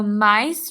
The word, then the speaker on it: mice: Mice has the soft C sound S because that C is followed by the letter E.